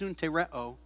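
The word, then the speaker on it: συντηρέω: It's pronounced suntereo.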